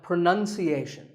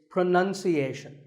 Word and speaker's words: pronunciation: you say it well we say pronounce pronounced and pronouncing but pronunciation there's no noun in this word it's pronunciation word number two is says